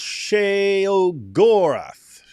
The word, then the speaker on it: Sheogorath: It's pronounced Sheogorath.